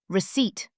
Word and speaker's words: receipt: Receipt. The P is silent.